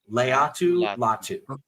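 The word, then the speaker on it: Laiatu Latu: of my favorite prospects and get ready to pronounce his name it's actually easier than it looks latu Leu latu okay Leu this dude is a [ __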